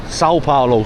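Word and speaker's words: São Paulo: S Paulo, Sao Paulo. Sorry, guys. Saying San saying instead of Sao, but you know, it's my first day, so it takes me a little minute to get the pronunciation.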